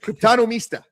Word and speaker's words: Cryptonomista: And so if you guys are not following, the Cryptonomista, is that how you say it? Cryptonomista. Yes, you did it. Say it yeah, like the cryptonomist, right? Like an economist.